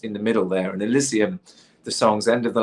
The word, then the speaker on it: Elysium: on the last album Elysium by the way not Asylum oh Elysium Elysium yes I am saying it right right no no worries